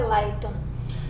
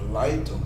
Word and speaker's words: Leitung: da editora, a editora Lightum. Isso é uma palavra alemã, a editora Lightum, se escreve, como está vendo aí pelo vídeo, L-E-I-T-U-N-G.